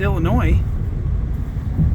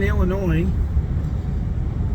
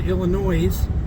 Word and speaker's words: Illinois: and we're officially in Illinois and until I met Kelly I always said Illinois I pronounced the S on the end but she corrected me she's from Illinois originally so we're going